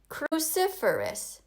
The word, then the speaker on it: cruciferous: Now we learned this in class, and the answer is cruciferous. Try to say it. Cruciferous. It has 4 syllables.